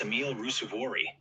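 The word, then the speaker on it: Emil Ruusuvuori: Haha, I've got you covered on the pronunciation, Gary. That's Emil Rusuvori, proper Finnish power baseline player, and Elisabetta Cocciaretto.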